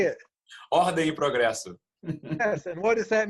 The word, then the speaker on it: Ordem e progresso: Ordem e progresso. Ordem e You say it properly. Say it. Ordem e progresso.